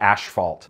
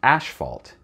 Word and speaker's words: asphalt: Like road pavers in Canada say asphalt. It's a Canadian thing, that's how they pronounce it. I looked it up on the internet. Canadians and Australians pronounce it asphalt, even though there's no H.